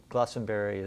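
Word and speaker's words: Glastenbury: I think that uh Glossenberry is the preferred pronunciation.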